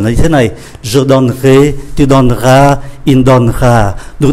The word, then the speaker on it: donnerai: sẽ để ý là cái syllable mang ký tự ơ nó nằm ở giữa này thì chúng ta không có đọc, chúng ta không phát âm.